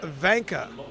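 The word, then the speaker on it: Wanka: getting called anytime soon Christian Vanka is how you pronounce his last name the W is a v a v v sound Austria and Germany to use the V sound for the W that's right now buska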